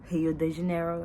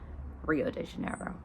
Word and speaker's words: Rio de Janeiro: If there's an R at the beginning of a sentence, it's usually at the at the beginning of a word, then instead of it being a sound that we're used to, it's a her sound. So he eyes instead of royale and he de Janeiro instead of Rio de Janeiro.